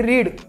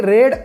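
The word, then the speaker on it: read: वाचले what did Malati रीड मालतीने कविता वाचली Malati Malati रीड a poem आता बघा बघा रीड म्हटलं इथं रेड उच्चार स्पेलिंग एकच आहे फक्त वेगळा रेड मालती रेड अ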